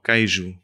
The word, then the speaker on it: queijo: Ah, queijo. Queijo, com um A. Pois. Mas escreve-se com um E.